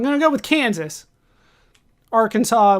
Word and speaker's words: Arkansas: Arkansas would be different, even though it's spelled Arkansas.